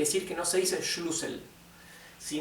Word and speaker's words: Schlüssel: Si no tuviera la diéresis sería shlusel, como tiene la diéisis o umlout es schlusel. Sí, schlusel. Ahora, si en vez de la doble s tuviese la estet, la u se pronunciaría más larga, sería shlusel. Schluel. Sin embargo, como en vez de una Z tenemos una doble s, es una u corta.